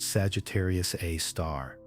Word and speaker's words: Sagittarius A*: Later, the brightest component was designated Sagittarius A, pronounced Sagittarius A star. the asterisk denoting something special.